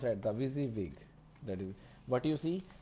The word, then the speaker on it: WYSIWYG: That is what you see it what you get, pronounced as a WYSIWYG interface, and the shortcut that save you from typing the repetitive HTML and the CSS.